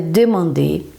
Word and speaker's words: demander: que eu não tô não tô pronunciando é o r final o verbo é demander E aí ó redmond